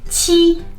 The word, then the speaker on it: qi: So just to give you an example, in the pinyin, qi is the meaning of 7.